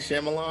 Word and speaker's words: Shyamalan: a lot of might sha shaman or whatever however you say his name butchered it might shyamalan there you go there you go